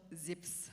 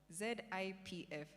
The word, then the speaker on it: Zipf: Like our first speaker, I came across this principle called Zip's law. Zipf. Did I pronounce that correctly? Zipf. Zips law.